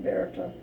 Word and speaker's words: Berta: It's pronounced in German Berta. They don't have a TH.